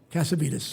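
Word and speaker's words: Cassavitis: to be all of a sudden your Tony, how do you pronounce the original name? Caveetes. Casabites.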